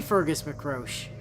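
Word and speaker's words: Fergus mac Róich: He could be Fergus McRoche. That's not how it's spelled, but that's how it's pronounced.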